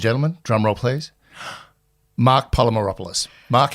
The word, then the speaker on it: Polymeropoulos: do ladies and gentlemen drum role plays Mark polymeropoulos Mark how are you I'm doing great I have to say that you pronounced my name correctly so uh good we're